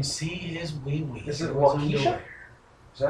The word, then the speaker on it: Waukesha: Is it Waukesha? Is that how you pronounce it? No clue. Waukesha, Wisconsin? Waukesha, thank you.